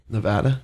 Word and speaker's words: Nevada: What's the proper way to pronounce our state? Nevada.